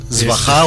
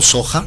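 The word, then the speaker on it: svāhā: Svaha o Soja, dependiendo la pronunciación tibetana o sánscrita.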